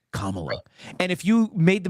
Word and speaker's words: Kamala: It's Kamala."